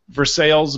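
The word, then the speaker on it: Versailles: l s Missour which should be pronounced Versa right versales missoui that sounds about right it's classy isn't it I feel class already right says classy like pronouncing all those L's I love it all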